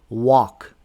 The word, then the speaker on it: walk: Rule number five is the L is silent after a and U. Here are some examples. Do we say walk? We don't say walk. We say walk.